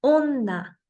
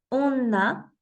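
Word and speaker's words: おんな: de distinguir on onna la doble n simplemente la voy a pronunciar a pronunciar más fuerte lo mismo en la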